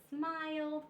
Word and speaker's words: smiled: taking pictures and I smiled for the picture okay smiled e is silent and it just makes a D sound so all of these